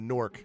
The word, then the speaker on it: gnorc: Or a gnorc if you will. The G is silent.